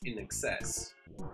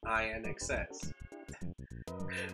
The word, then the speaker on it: INXS: the funny thing is i didn't know it's pronounced in excess i thought it's pronounced inxs it's pretty funny yeah